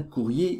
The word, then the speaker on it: courrier: un courrier urgent un courrier urgent on dit pas un courir urgence non le r de courrier n'est pas prononcé le r ça fait le